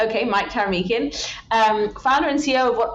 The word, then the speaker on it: Taramykin: The second most popular is Taramykin, which is how I pronounce it. Taramykin. Okay, Mike Taramykin, founder and CEO of